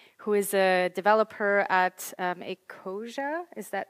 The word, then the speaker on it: Ecosia: Then we have Jessica Green, who is a developer at Ecosia. Is that how it's pronounced?